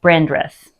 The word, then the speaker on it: Brandreth: but our man of the evening is Jeremiah brandreth good job I say it correctly yes I